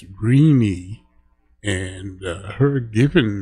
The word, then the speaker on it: Renee: It's not Renee, although it's spelled R E N E. It's Reinie and her given name is Irene.